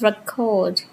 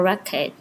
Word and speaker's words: record: It is example number one is the word record or record phology meet syntax here. So the same spelling two different pronunciations conditioned entirely by grammatical category. This is the direct interaction between phonological pattern stress placement and the syntactic one noun versus verb.